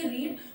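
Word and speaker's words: read: लेकिन हम यहाँ पे इसको बोलेंगे रीड, और यहीं पे इसको हम कहेंगे रेड, इसको भी हम कहेंगे रेड, क्योंकि जब हम इसको डिफरेंट टेंसेस में यूज करते हैं ना तो इसकी प्रोनाउंसिएशन चेंज हो जाते हैं, हम इसको सेकंड और थर्ड फॉर्म में बोलते हैं।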